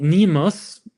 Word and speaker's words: N3MUS: is a company called Nemus. It's spelled with the letter 3 instead of the E, N3MUS.